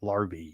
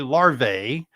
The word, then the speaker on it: larvae: The proper pronunciation of more than one larvae is larve. I love saying that. Larvy. It's easy. Some people say larae.